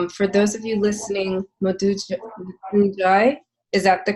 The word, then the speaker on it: Modou Njie: For those of you listening, Modou Njie, is that the correct pronunciation? Modou Njie, yes.